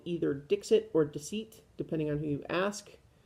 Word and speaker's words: Dixit: The guy at the game store seems to think it was Dixit, and it's spelled Dixit. But I had kind of thought that like it was French, and so maybe it's supposed to be Deceit, and I don't know.